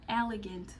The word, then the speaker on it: elegant: Então, em português, elegante. Em inglês, elegant. Elegant.